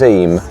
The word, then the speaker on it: Eyam: And cheers to the village of Eyam, which Sharon just asked how we pronounce it in the coffee shop, and it is Eyam.